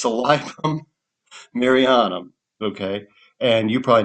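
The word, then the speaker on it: Silybum: Silibum, which salibum is actually the way you're supposed to pronounce it. Thanks, Doc Jones for ruining that pronunciation for me. He always calls it silibum. No, it's salibum.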